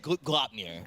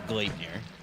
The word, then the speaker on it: Gleipnir: Swedish people are not going to be too happy about that pronunciation. But it, I usually stick to Gleipnir.